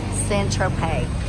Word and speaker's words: Saint-Tropez: troupe how do you say it thanks ed San Tropez the interpreter in text